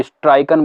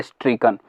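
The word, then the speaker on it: stricken: इसे कई लोग स्ट्राइकन बोलते हैं, जो कि गलत प्रोनाउंसिएशन है, इसका प्रोनाउंसिएशन होता है स्ट्रीकन।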